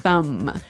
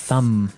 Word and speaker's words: thumb: Do you say the B at the end of this word? No, I actually only pronounce the M, the Yes. thumb.